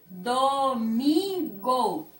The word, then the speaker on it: domingo: Domingo. Olha aqui. O mi é a sílaba mais forte da palavra.